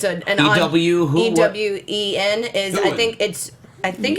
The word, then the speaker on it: Ewen: How do you pronounce Ewen? I think it's Ewan actually, but it's I just never- a weird way to say you. It's an E-W who? E-W-E-N is. Ewan.